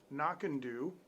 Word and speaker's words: Knockando: but uh this is called this is actually pronounced knock and do and this is a 12 year single malt